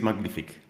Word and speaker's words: Magnific: Nobody will know how to how to pronounce it, but it is magnific.